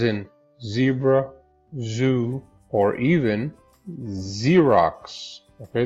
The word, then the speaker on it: Xerox: Okay, the Z sound, as in zebra, zoo, or even Xerox. Okay, this is pronounced with a Z.